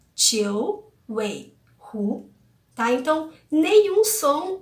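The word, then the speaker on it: 九尾狐: E a pronúncia de Jiu Weihu, que é a raposa de 9 caudas literalmente, né, é Jiu Weihu, tá?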